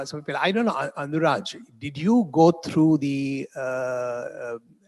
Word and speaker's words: Anuraj: You spell it with a J. But how is it pronounced? Oh, Anuraj, not Anurag. Oh, okay.